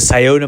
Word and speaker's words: Scioto: All right, this guy needs to learn how to pronounce words better. It's the Scioto Mile. But anyways, the Scioto Mile is a river walk located right in